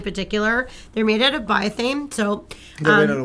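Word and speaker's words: Biothane: But the nice things about these long lines in particular, they're made out of bioane. So they're made out of what? Bioane.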